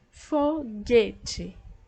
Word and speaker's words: foguete: a palavra fogueira ó foguete foguete eu não pronuncio a letra u então essa eu